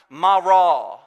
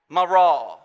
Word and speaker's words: Marah: translated bitterness is is this word that's pronounced Marah Marah now this has nothing